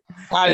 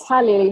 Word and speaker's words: Hallie: Haley, is Haley or Hallie? How do I pronounce it? Hallie. It's Hallie. It's Hallie, like Halle Berry, yeah.